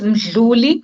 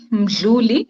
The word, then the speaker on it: Mdhluli: can you please tell me the correct pronunciation of your last name? It's Mdhluli. Mdhluli. It's quite a complex one. Yes, Mdhluli. Mdhluli.